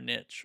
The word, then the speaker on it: niche: get niche, not or niche or however you want to say it. I say niche because that rhymes with rich.